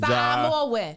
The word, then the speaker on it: Samoan: Samoan. You pronounce every vowel in Samoan.